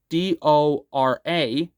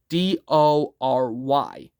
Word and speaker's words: Dory: It's not Dora. It's Dory.